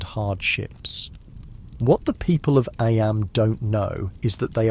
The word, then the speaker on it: Eyam: Eyam, is pronounced just like Eyam.